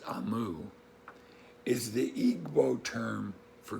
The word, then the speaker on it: Omu: beginning it says note to the reader amu pronounced amu is the igbo term for queen so even though we would pronounce this omu they pronounce it so that's why you'll hear